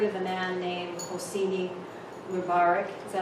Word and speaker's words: Mubarak: 40-some years ago it was, before Hassan had ever heard of a man named Hosseini Mubarak, is that how you say it? Mubarak.